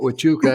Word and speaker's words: Huachuca: the show and Fort Huachuca, Arizona. I was teasing the ladies. I said, I didn't know you pronounced Fort Huachuca, which is spelled with Huachuca. I didn't know you pronounced that with a W, because it is, but